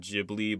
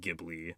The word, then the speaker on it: Ghibli: Some people pronounce it Ghibli, but I'm gonna pronounce it Ghibli.